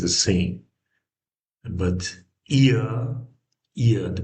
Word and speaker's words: ihr: And but ihr Ihr, the pronunciation is ihr.